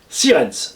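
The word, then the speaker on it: Sierentz: Mon adresse c'est Raymond REYMOND, marque 7 rue des Érables, 68 510 Sirens. Sirens qui s'écrit S-I-E-R-T-E-N-Z.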